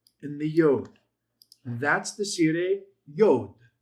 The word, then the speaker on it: segol yod: the consonant before it, silent yod, that's a segol yod, it's just pronounced as a long e sound.